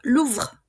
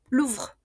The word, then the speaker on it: Louvre: Louvre. Louvre. Y la E, que no tiene tilde, habíamos dicho siempre que no pronunciamos.